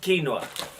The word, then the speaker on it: quinoa: side just throw it okay see quinoa it's pronounced quinoa okay this is not English this is not